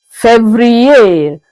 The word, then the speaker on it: février: February is février.